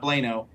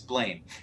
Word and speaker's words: Blaine: big mistake of saying my name is not blano it's blaine and every instructor like